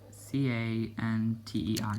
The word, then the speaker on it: Canter: I know Futsal, they're all Futsals, but Canter, C-A-N-T-E-R, Canter, I believe you say it.